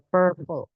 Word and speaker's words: purple: warna Bendanya contohnya ada Purple ini bacanya e ya bukan a teman-teman karena banyak yang bacanya Pak e kemudian ada vibrant Purple